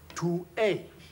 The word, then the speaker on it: tu es: The interesting phonetic illustration of this is that the French, using a lot of feminine vowels, pout the lip to pronounce the words properly. For instance, tu es, tu es, tu es.